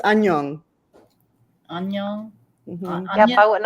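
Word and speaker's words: 안녕: It's annyeong. Annyeong. Mhm. Yep, I wouldn't have got Onion? Is it Onion. Is it onion? It's actually the formal word is annyeong haseo, but that's like the formal hello, but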